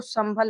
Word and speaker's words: संभल: देखिए यहां पर इसको संभल पढ़ेंगे। इस अं की बिंदी है। इसका उच्चारण यहां पर म के रूप में हो रहा है।